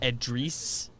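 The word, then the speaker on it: Edrice: to bam autobio okay his first name is edreese oh e-d-r-i-c-e is how it's spelled hey i don't know the origin of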